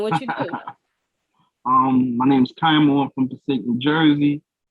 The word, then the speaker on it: Kiamo: So before we get into this interview, I did say Kiamo, right?